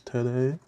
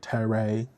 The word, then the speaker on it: Tede: Here's Tede. It kind of kills me when some people pronounce it like Tere.